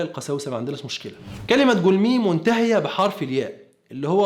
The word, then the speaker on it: גלמי: الكلمة العبرية تنطق جولمي، مش جولامي ولا جلماي زي ما بيقول، لكن طبيعي هو ما يعرفش لغات كتابه الأصلية مثل غالبية المسيحيين، ومع ذلك بيفتي وبيكذب.